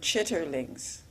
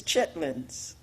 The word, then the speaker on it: chitterlings: lady about the word chitterlings and it's spelled I guess l-e-r-i-n-g on the end and he said now you know that is not the correct word that the word is chitlins and you know I